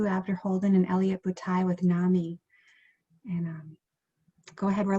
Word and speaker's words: NAMI: group of moms so you can always remember how to pronounce nami at least in the midwest is nami mommies they're the ones who really